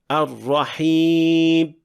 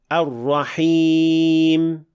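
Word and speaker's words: الرحيم: sound enough when producing the meme at the end of the word, making the meme almost inaudible and actually closer to the sound of ba. The mistake sounds like this. Ar-Rahim. While the proper pronunciation of meme is somewhere in between. Ar-Rahim. So do not exaggerate or cut the sound too early.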